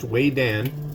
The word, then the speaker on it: Vedan: noodles uh this is by a company called Wayan you may notice it's spelled v d an but it's pronounced Wayan learned that in Taiwan uh this is way